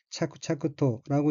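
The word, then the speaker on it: 着々と: 다음 어인은 한자가 붙을 착자가 앞에 있고 뒤에 나오는 기온은 앞에 한자를 반복한다는 표시이므로 일본어는 차크차크토라고 읽으며 차크차크토는 척 순저롭게란 뜻의 부사입니다.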